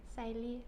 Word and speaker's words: salir: Salir. And the stress is where? At the end.